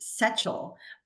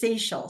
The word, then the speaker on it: Sechel: no it's it's perfectly fine it's it is pronounced seal but okay but um it's off but most people think it's it's saal so you got it you got it you